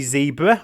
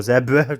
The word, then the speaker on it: zebra: giraffes B monkeys C zebra or zebra depends which way you pronounce it or D the kangaroos